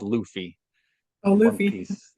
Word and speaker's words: Luffy: Actually, his name is pronounced Luffy.